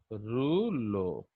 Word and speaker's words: rouleau: ये this is a French word pronounced as rouleau.